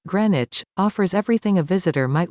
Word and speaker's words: Greenwich: a family day out the neighborhood of greenwich pronounced greenwich offers everything a visitor